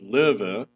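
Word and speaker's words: Löwe: tier viii premium tank the low which is pronounced liver it means lion you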